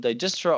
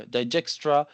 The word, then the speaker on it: Dijkstra: When Dijkstra's theorem start, by the way, you can call it Dijkstra or Dijkstra. It's up to you. I find it easier to use it to say Dijkstra, but it can be pronounced in both ways.